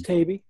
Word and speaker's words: Taibbi: It's Taibbi. Taibbi. Oh, it rhymes with baby.